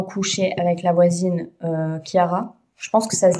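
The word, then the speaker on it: Chiara: Je pense que ça se dit Kiara vu que c'est vu que c'est de l'italien.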